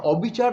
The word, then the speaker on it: অবিচার: অনুরোধিত হয় না যে কারণে আমরা অবিচার যখন উচ্চারণ করি অটা অ এর মতোই থাকে ঠিক কথা কিন্তু শেষের যে অক্ষরটি র সেখানে একটা হসন্ত মনে মনে যোগ করি একটা ছোট্ট করে ধাক্কা দেই অবিচার অবিচার অবিচার অবিচার রটার মধ্যে একটা